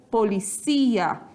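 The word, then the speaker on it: policía: Então, como eu disse para vocês, polícia e policia. Português, paroxítona e espanhol, oxítona, certo?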